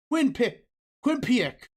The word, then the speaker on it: Quinnipiac: Quinnipiac. Q. We're going to call it Q University. I can never pronounce it correctly.